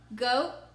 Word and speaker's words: goat: Goat, goat. O for the long sound. That's my first vowel. My second vowel is silent, so I slashed it.